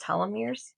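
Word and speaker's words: telomeres: voice the secretary voice let's do it it's pronounced talir okay talir are protein structures found at the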